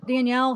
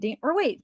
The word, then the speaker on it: Daniel: Thank you, thank you, Danielle. Sorry, I keep saying Danielle. How would that be pronounced? Daniel, right?